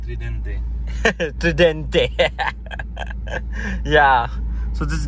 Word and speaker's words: Tridente: You have to say it like an Italian, Tridente.